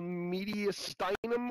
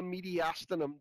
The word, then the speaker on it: mediastinum: Lives in the area between those two called the mediastinum or the mediastinum, depending on which way you like to pronounce it.